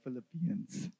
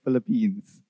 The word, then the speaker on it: Philippians: here she knows so i struggled to pronounce the word philippians philippians it sometimes comes out like i'm saying philippines which i'm not really trying to say so if you hear it that way know that i'm meaning the book of the bible philippians philippians right so